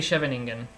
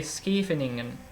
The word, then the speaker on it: Scheveningen: And yes, I know my Dutch pronunciation is quite horrendous. Bear with me, guys. I don't speak Dutch. But at least I don't say Scheveningen, which is what most other players would say. I'll try to say Scheveningen, but maybe that's slightly closer to the accurate way of pronouncing it.